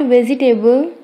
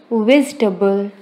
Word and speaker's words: vegetable: Friends, it's not vegetable, it is vegetable.